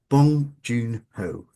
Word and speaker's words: Bong Joon-ho: Now, you co-wrote that with Bong Joon-ho, I think I can never Bong Joon-ho. Bong Joon-ho. Um, Yeah, Bong Joon-ho. We're not going to continue until you say it right. right, okay, Bong Joon-ho.